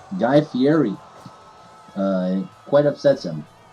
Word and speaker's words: Fieri: Yes, oftentimes he gets called Guy Fieri. It quite upsets him. Because they don't pronounce it correctly. How do you pronounce it? Fieri.